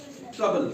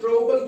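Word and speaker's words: trouble: ट्रबल। क्या बना? ट्रबल। ट्रबल। ट्रबल बना और ट्रबल क्यों नहीं बना? ट्रोबल इसलिए नहीं बना क्योंकि ओ यू की कॉम्बिनेशन है यहां।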